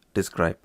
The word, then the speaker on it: DESC: So, to get information about the product table, we can run describe product, or we can use the abbreviation DESC, pronounced as describe still, followed by product.